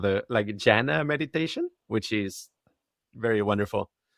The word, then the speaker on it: jhana: I do what's called the jhana meditation, which is very wonderful. Have you heard of No, spell it for me, please.